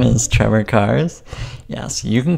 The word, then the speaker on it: Carss: So that's cars with one R, two S's. Yes, that second S is silent.